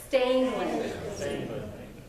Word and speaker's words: Stangland: mispronounce my last name, Stangland. There's no R, so say it with me just so I can hear it. Stangland.